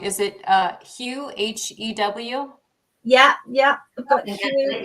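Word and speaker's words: Hew: Would you like to start with excuse me if I pronounce this wrong, is it Hugh, H-E-W? Yeah, I've got Hugh here. Yeah, Hugh, there we are.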